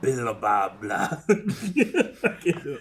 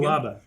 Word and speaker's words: Billaba: And where will you and your staff billet, General Billababla? Bilabia? How you say it again? Billaba.